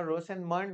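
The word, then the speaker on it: Rosenmund: okay एकच word gap नाही मला रोजेन मुंड रोसेन मंड कुठलं प्रोनाउंसिएशन बघा रोसेन मंड मला बरोबर वाटतंय ओके परीक्षेत किती वेळा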